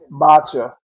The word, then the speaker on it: matcha: you're talking Mach Mach is it m matcha is how you pronounce it yeah yeah and that